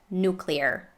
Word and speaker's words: nuclear: get into a habit this one is interesting because usually you would hear nuclear and this is how i would read it even if i didn't hear its pronunciation before but sometimes you might hear it's being pronounced as nuclear or nuclear but i would stick to the what is considered the proper way of saying it nuclear let's make a little